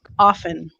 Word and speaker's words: often: you say that um some people don't pronounce the T in there often I say often yeah